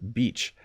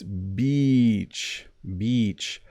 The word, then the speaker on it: beach: I will say the word again, beach. If you listen, it's beach, beach. So when you see, the little insect called a bee, that's how it starts, beach.